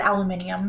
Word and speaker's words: aluminium: spelled different in Europe in England they spell it aluminium they do have like an i instead of yeah however weird that